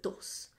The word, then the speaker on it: Thos: country called Thos, but th is not a sound that they actually have. They pronounce the d. So you would read it, the islands of Thos, but they're actually the islands of Dos in their language. That's how they say that sound.